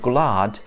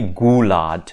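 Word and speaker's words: gwlad: consonant and that's why we sing the word glad in the national anthem on just one note because it has only one syllable we don't say gulat we say so this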